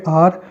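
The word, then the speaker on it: hour: तो यहाँ पे आप देख सकते हो एच जो है वो साइलेंट है, आप इसको बोलोगे आर।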